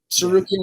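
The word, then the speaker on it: Tsarukyan: worried about freaking Armin saruki with it with a with a what's a with a silent T at the beginning hey uh so when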